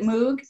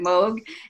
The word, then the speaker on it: Moog: was James I guess wavered because sometimes people pronounce it Moog and actually there's part of an you know